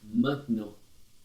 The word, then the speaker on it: maintenant: Je pars maintenant. Je pars maintenant. Je pars maintenant. Maintenant. Ele é bem nasal. Tem gente que fala maintenant. Não pronuncia o T lá no final, por favor.